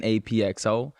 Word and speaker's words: APXO: nice yeah okay i my name is written apxo but it's actually just pronounced ap ap ap yeah it comes from